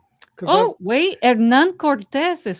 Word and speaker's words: Cortez: It's Cortez. Cortez. It's like an S.